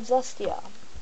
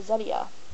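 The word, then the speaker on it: Zetia: are common and finally we have zestia or zedia depending how you want to pronounce it cholesterol absorption inhibitor that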